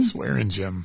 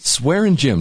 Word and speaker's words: Swaringim: name pronounce that again swearing Jim swearing gym so if you're in b class and you're mad at the coach what do you do yeah you cuss in jail if you're cussing PE class you're swearing Jim you're swearing gym and you and I